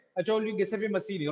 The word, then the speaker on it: Giuseppe Mazzini: Okay, as per the Italian pronunciation, it is a GCP, right? GCP Mazzini.